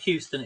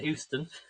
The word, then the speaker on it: Euston: So, and thankfully, the only works were happening is if you're travelling to London, Euston. There's no trains to London, Euston. Not Houston, Euston.